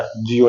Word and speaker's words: Tjio: यह किसने बताया, यह बताया था जियो ने। जियो एक वैज्ञानिक था, उसकी स्पेलिंग का ध्यान रखना, STGIO, TJIO है ना, ये टी साइलेंट रहता है। जियो ने बताया था, टीओ भी बोल देते हैं पर आप जियो भी पूछा जाता है।